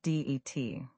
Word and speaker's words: debt: The word debt has a silent b. We say d a t, not debt. Say it with me. debt just det.